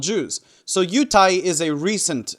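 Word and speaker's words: 犹太: well lately the word for Jew has been yutai which comes from yehudi which means somebody from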